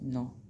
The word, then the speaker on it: know: Next, नो, KNOW, but pronounced no.